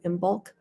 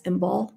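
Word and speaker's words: Imbolc: but february first is imbal i-m-b-o-l-c you don't pronounce the c some people go in bulk but it's embal the c is silent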